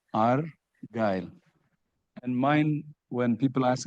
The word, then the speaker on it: Argyle: He divided it into two, Argyle.